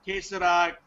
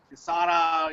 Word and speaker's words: Kesara: It's uh uh queser Casara, you know, like there are different uh pronunciations that that that it goes by, but it's okay.